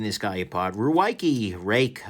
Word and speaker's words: Ruike: guy apart we're Waikiki rake I guess is how they want to be pronounced is is a weird